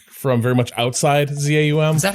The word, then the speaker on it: ZA/UM: Well, the slash makes Zaum impossible, right? I say Zaum. Yeah, Zaum. Zaum. Zaum. That's a much cooler way of saying it than ZAUM.